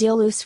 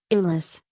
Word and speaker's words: Iulus: The meter shows that the name Iulus is pronounced as 3 syllables, not as Julius.